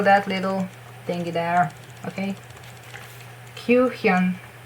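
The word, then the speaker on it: Kyuhyun: Q, it's U, like in Ryeowook's name, just U, not U. Q, and Hyun, mean like Hyuk, just it's Hyun, not with a K, it's with an N. Hyun.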